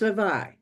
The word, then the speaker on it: Levi: And your name is pronounced Levi. Yeah, that's right.